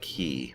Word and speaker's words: quay: wolves walls I mean it's spelled like it looks like Quay but I think it's pronounced key but anyway I'm paused